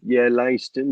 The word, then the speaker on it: Leiston: And then I think we've got on the 24th of September, Leiston. Is that how you pronounce it? Yeah, Leiston. Leiston. Yeah, that's correct, mate.